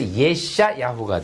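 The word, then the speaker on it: ישעיהו: 이사야는 종교적인 이름이고이 사람의 원래 히브리 명칭은 예샤 후예요 야샤 예인데 요게 또 붙으면이 야 발음이 약간 약해져서 예샤 야후가 돼요 예시야 호와의 바른 문제는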